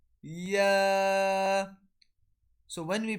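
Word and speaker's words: ي: Jim, Sheen, Ya. So when we pronounce this letter, our middle of the tongue touches the opposite palate.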